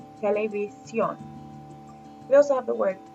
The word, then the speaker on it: televisión: If it ends in an N, we expect the second to last syllable to be stressed. So it would go something like televisión. But the word has evolved where the last syllable gets stressed. So we see the accent over the O, the strong vowel in that syllable, televisión.